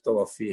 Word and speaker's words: توفی: تو اب پہلی بات یہ سمجھیں کہ یہ لفظ توفی ہے.